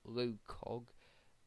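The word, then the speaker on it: LOCOG: a parody the proper name I believe is pronounced as low Cog uh uh yeah let me double check that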